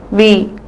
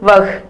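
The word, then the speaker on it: वह: இது இவனோட பெயர் வந்து ரகு, இவளுடைய பெயர் சாக்ஷி, இந்த மாதிரி இடங்கள்ல யூஸ் பண்ணலாம். இந்த வார்த்தை வஹ். இந்த இடத்துல ஹாங்கிற வார்த்தை வந்து நம்ம ப்ரொனவுன்ஸ் பண்ணக்கூடாது. ஸோ வே.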